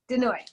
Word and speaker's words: De Nooy: Denoy.